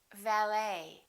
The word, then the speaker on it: valet: A few more ET endings. Bouquet, like a bouquet of flowers. Buffet. Valet. And one more, Chevrolet.